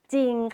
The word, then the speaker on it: จริง: ว่า จ ร อิง จริง ค่ะ ไม่ อ่าน ออก เสียง ร เรือ เลย นะ คะ คำ ต่อ ไป ค่ะ